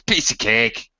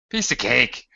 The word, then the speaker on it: piece of cake: likely hear it it's piece of cake piece of cake we tend to say it it's such a very normal structure and normal ADM we say it like it's one word ah pieace take even